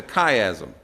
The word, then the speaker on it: chiasm: C-H, chai, but it's actually pronounced chi. It's a chiasm, all right?